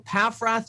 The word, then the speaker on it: Paffrath: Am I doing okay with that? You're doing great. Right down the middle. Paffrath, you nailed it.